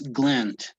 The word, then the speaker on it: gland: any kind of gland is just like that gland it's not an a it's not like ah it's gland it's between an a and an e okay gland